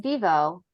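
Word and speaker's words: Vevo: networks and Studios including Disney NBC is it pronounced Vivo yep you got it awesome Dailymotion MTV defy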